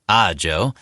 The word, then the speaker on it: Ajo: The small town of Ajo, pronounced Ajo but vulnerable to an embarrassing mispronunciation, is home to the copper-rich New Cornelia Open Pit Mine.